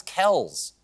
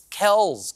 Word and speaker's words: Kelce: According to a discussion on Inside the NFL, the correct pronunciation is Travis Kelce. And in a podcast, Travis's dad backed it up, saying that the proper way to say their last name is Kelce.